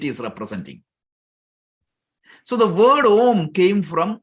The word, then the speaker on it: om: is a quick introduction if you say ah Plus that is if you add these three letters syllables together you get the word om ah plus o plus m so why they chose